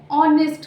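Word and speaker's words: honest: start हो रहा है बट यहां पर एच हमारा साइलेंट होता है और यह कौन सा साउंड देता है ऑ ऑनेस्ट का ओ का तो ये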